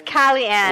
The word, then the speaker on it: Kali Ann: It's Kellyanne.